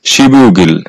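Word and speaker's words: 십육일: আর ইল হচ্ছে তারিখ আর এই শব্দটার সঠিক উচ্চারণ হবে শিবগিল যার অর্থ হচ্ছে 16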